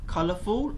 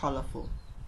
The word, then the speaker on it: colorful: As you can see here, the man khơi nhắc ní, cứ colorful or colorful. Stress in the beginning of the word.